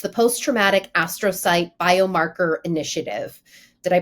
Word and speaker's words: astrocyte: So CURE has since launched and I'm going to make sure I get this correct here, it's the Post-Traumatic Astrocyte Biomarker Initiative. Did I pronounce astrocyte correctly?